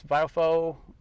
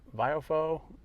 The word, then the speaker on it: VIOFO: you're interested in this biofo I think that's how you pronounce it biofo uh but it's spelled v-i-o-f-o if you're interested in